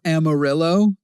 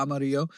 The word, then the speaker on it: Amarillo: The double L makes a Y Yeah yeah amarillo and it it it is a double L makes a Y sound and we have like